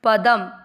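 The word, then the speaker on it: पदम्: प में अ का उच्चारण मिक्स, पदम, द के साथ आधा म पढ़ा गया है।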